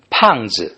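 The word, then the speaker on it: 胖: to spend how to how to pronounce it easy you just uh read just like a English word pan okay pen you know actually Pang sounds very much like the the French word uh bang uh which is bread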